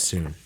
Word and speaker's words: Sun: Yeah, Miss Soon. Miss Soon? It was spelled Sun, but yeah, she always pronounced it Soon.